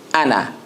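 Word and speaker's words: أنا: And this alif that you see after that noon is not a mad for it. So you pronounce only the Hamza and the noon and pronounce it as Ana.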